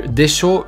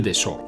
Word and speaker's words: でしょう: Now the difference between this desho and the desho from before is the intonation. If you look at the pronunciation, it is slightly different than the one before. The desho that can roughly translate to right would also go up in intonation.